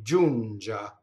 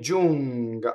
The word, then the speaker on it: giunga: Going on, ne does a double G. Ne giunga. Ne giunga. I'm sorry, ne giunga. Ne giunga. In this case, the GA is hard.